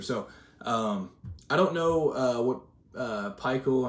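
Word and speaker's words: Pikiell: So I don't know what Peichel, I'm pretty sure that's how it's pronounced, Steve Peichel, or I always thought it was Steve Piquel, but whatever it is.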